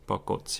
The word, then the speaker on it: 벚꽃: 벚꽃. In English, it would be pronounced something like this.